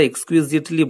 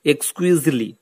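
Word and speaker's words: exquisitely: The girl, মেয়েটি, ওয়াজ এক্সকুইজিটলি, এখানে টিটা কিন্তু সাইলেন্ট হবে। যদিও আমরা এক্সকুইজিটলি বলি, কিন্তু এই টি এর উচ্চারণটা কিন্তু হবে না, অর্থাৎ উচ্চারণটা হবে এক্সকুইজলি বিউটিফুল, অর্থাৎ ব্যাপক সুন্দর।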